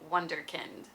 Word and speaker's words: Wunderkind: But of course, again, we pronounce it with the English W, and so we say Wunderkind.